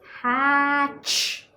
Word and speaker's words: hatch: So remember to add your t, which is silent.